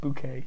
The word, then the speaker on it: Bouquet: I love British coffee somewhere it's pronounced bouquet my face hit from